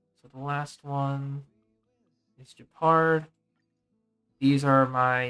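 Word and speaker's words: Jepard: Yeah, it's no, it is Japard. You are correct. Am I saying Yangqing right, or is it pronounced something else?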